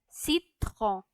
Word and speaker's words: citron: And lemon in French it's pronounced as citron.